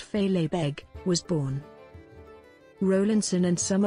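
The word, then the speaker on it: fèileadh beag: the little kilt known in gaelic as philippe pronounced fey labeg was born rowlandson and some of his peers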